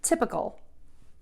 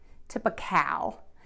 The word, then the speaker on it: typical: TIPA typical typical typical be careful here with the ending think of this again as a really short uh sound tipa kl kl kl can actually think of it even without a vowel there just the K in the L sound kl kl the mistake I hear is people will say cowl tip ikawl and that's not correct it's typical typical typical